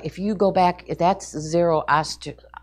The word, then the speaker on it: Zoroaster: And so now over here, they start to worship Zoroaster and Anahita. Now, Zoroaster, if you go back, that's Zoroaster.